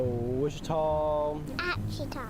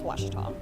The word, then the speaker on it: Ouachita: wichita but really it's ouachita washington washington how would you pronounce it it's washita baptist university get it right it's watertall people it's watch it all wash your tongue